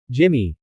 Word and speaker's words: Jimny: Here's a draft of a YouTube-style article for a video script or blog post about the 2025 Suzuki Jimny 4x4, often stylized Jimny, sometimes pronounced Jimmy, roughly 800 words, without section headings.